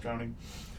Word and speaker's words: Trowning: Spelled however you want to write Trowning, but it's pronounced Trowning. Guessing the way drowning is He was an apprentice gem cutter.